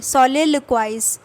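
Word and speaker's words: soliloquize: ये मैंने यूके वाला लिख रखा है, सोलिलोक्वाइज, ठीक है।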